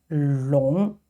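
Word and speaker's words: 龙: are the legs and the scales and it's pronounced long long and up to now maybe you will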